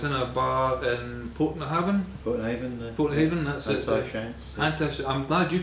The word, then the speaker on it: Portnahaven: Portnahaven, that's it. I'm glad you could pronounce the name.